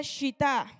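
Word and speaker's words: שיטה: diccionario strong en hebreo la palabra Acacia eh se pronuncia shita y significa que es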